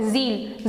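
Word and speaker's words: zealot: Have done this word ज़ील. ज़ील means happy. ज़ीलॉट इज ज़िलो. टी का यहाँ पे हम प्रोनाउंसिएशन नहीं करेंगे, वी विल से ज़िलो.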